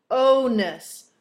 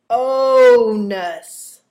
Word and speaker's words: onus: if you mispronounce it so make sure you pronounce it right the word is onus onus and it is a noun it means a